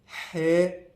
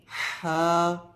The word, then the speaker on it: ح: لہجے میں ادا کریں، اردو تلفظ سے پرہیز کریں، یعنی بے، تے، سے، ہے، خے، توے، زویں وغیرہ ہرگز نہ پڑھیں، بلکہ با، تا، سا، حا، خو، تو، زو پڑھیں۔ ان 29 حروف میں